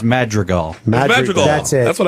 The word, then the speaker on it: Madrigal: I would think it's Madrigal. Madrigal. That's it. That's what I said. I said it Hal right Madrigal. the first time. Hal Madrigal. He's fucking one of the Not funniest. Madrigal.